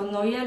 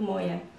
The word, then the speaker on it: Noe: Był Noe, niektórzy wymawiają to nazwisko Noje lub Moje, co w harce na potopie pływał i wszystkie zwierzęta miał ze sobą parami.